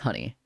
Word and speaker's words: Hony: it say honey wow it says pronunciation right there pronounced as honey so let me just